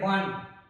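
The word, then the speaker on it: one: क्या होता है, आप इसको ऑन नहीं यूज करते हैं पर इसको प्रोनाउंस करते हैं वन, और ये व जो है वो क्या है, व्यंजन है।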